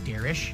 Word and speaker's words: Derich: He actually told me later it's actually Derish.